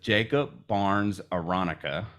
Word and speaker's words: Jakob Barnes-Aronica: So today we're joined with Jakob Barnes-Aronica.